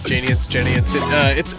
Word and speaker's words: Genians: I guess that is how you pronounce it. Yes, that is Genians.